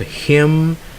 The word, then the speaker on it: hymn: All right, so those are words that have silent letters, or the letters are dropped, and therefore they are not pronounced.